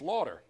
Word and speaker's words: Lauder: right from pract except north water like lot of water not like Cyndi Lauper it's water you don't have to put the Philly accent on to say it properly it's Lauder right night yes that's correct